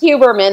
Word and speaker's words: Huberman: Huberman? Yeah, you're not butchering it. That's good. You're okay. Fine. Okay. It's Huberman. That's fine. But if you're my dad, the H is silent, and it's Huberman, which Huberman.